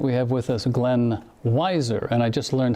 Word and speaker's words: Weiser: And tonight we have with us Glenn Weiser, and I just learned how to pronounce that correctly. Did I pronounce it correctly? That's right, just like Budweiser beer.